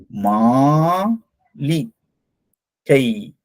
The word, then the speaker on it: மாளிகை: Okay அடுத்ததாக இது மாளிகை. இது மாளிகைனா பேலஸ் அப்படின்னு சொல்லுவாங்க. பேலஸ் அரண்மனை. மாலி கை. மாலி கை. கைன்னா நெடில் எழுத்துல. நெடில் எழுத்து. சோ அதனால இத கை அப்படின்னு தான் உச்சரிக்கணும். மாலி கை.